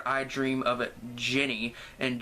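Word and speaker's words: Djinni: Next, we're on to the fifth segment, which is called I Dream of a Jenny, and Jenny spelled like D-J-I-N-N-I, so as in Jin, as in genie, and it's actually about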